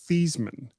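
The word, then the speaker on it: Theismann: His actual name his actual name is Theman. He changed it his when he was in college because he wanted it to rhyme with Heisman.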